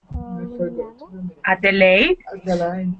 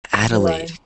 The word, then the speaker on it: Adelaide: So that's kind of a difficult name. Like, once you look at it, you might not know how to pronounce, but it's Adelaide. Kind of like that, Adelaide.